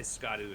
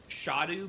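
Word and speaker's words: Scadu: So okay, so because I used to say Skadu as well, I found out that the pronunciation is Shadu because it's the Old English word for shadow.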